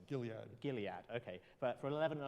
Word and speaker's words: Gilead: company was then sold to how do you pronounce that company's name Julia Gilead okay but for 11 and a half billion